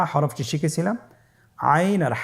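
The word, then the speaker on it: عين: এর মধ্যে একটি হরফ হলো আইন। আইন হরফটি উচ্চারণের সময় অবশ্যই 3 আলিফ টেনে পড়তে হবে এবং আইন হরফটি বারিক হরফ, পাতলা করে পড়তে হবে।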